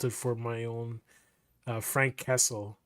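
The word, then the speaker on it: Franq Kasell: for my own uh Frank Kessle. The way his name is spelled is F R A N Q K A S E L L. So Frank Castle.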